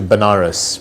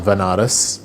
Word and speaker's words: Banaras: ended up going to banaras which is a place in in india sometimes pronounced as vanaras which is a place